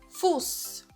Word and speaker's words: Fuß: Então, sempre que você vê o S7, você vai pronunciar com som de SS, ok? Então, fica Fuß.